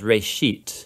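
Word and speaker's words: ראשית: Genesis comes from a Hebrew word, it's pronounced reshit, and it just means beginning.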